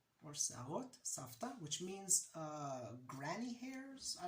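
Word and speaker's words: שערות סבתא: for cotton candy is Se'arot Savta. I wrote it here, Se'arot Savta. The V here is pronounced more like a F, but it's Se'arot Savta, or Se'arot Savta, which means granny hairs.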